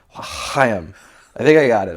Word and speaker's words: l'chaim: I said it's l'chaim, but you got to kind of clear your throat like that. And he's sitting there, he's on stage, and he's sitting there, and he's like, l'chaim.